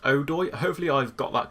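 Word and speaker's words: Odoi: our players o duoi I've been pronouncing a buoy or something very silly like that you guys have told me that it's pronounced Oh doy hopefully I've got that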